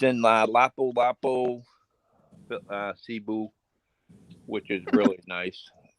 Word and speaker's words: Lapu-Lapu: Wapo Wapo or whatever the way you pronounce it, he's giggling back there. Oh, Lapu Lapu City.